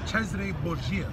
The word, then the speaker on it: Cesare Borgia: Specifically, his name was Cesare Borgia. That's how you would say it properly.